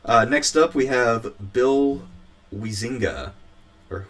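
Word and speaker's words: Huizenga: up we have bill wiesinga or huizinga i'm not sure exactly how you say his name he is bazinga bill bazinga hosing his bazinga no it's it's heisinger i don't want to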